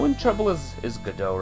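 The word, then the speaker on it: Godot: Mr God do go gdau rather what is the meaning of this I can't get used to that to the pronunciation it was always Goda for me for the longest flipping time gdau I warned you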